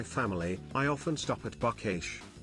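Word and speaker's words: Buc-ee's: I often stop at buckesh I saw a video of someone mispronouncing it as bossies and you know that's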